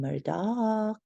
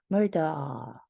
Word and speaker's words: Murdaugh: with the last name his name is pronounced differently by different people some people call him Murdock and other people call him murder murder murder due to